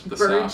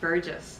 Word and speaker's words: Burgess: I believe it's Anthony Burgess. Burgess. Soft G. Burgess.